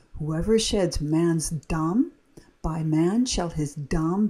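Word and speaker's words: דָּם: Again, we have this red, and it's pronounced dam, dam.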